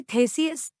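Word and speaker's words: Theseus: एथेंस के थेसियस, उच्चारण थेसियुस, युवा लोगों के वध को समाप्त करने के लिए दृढ़ थे।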